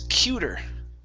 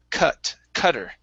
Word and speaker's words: cutter: Next up, okay, so here you were pronouncing this word as cuter. Okay, cute has only one T. Okay, this has two T's. All right, so this is now a short U sound. So it's cutter.